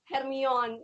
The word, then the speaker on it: Hermione: Well, I thought at first it was pronounced Hermione.